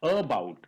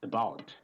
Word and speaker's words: about: For example, this is about. It's not about, it's about.